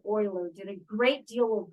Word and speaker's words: Euler: called Euler's number but it's spelled e-u-l-e-r in case you were wondering that's not Euler that's Euler a German mathematician named leonhard Oiler did a great deal